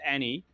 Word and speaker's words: Nai: It says Nai, but it's pronounced Annie.